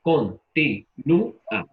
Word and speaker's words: continúa: Entonces, la letra que estamos pronunciando con mayor intensidad, que es una vocal débil, es la U. Continúa. Y ahí se produce el hiato. O sea que la palabra continúa tiene ¿cuántas sílabas? 4. 4. Muy bien. La primera, Con. con, luego, Ti. y, Nu. nu, A. A. perfecto. 4. Con, ti, nu, a.